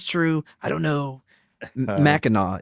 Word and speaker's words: Mackinac: Mackinac is how it's pronounced, I guess.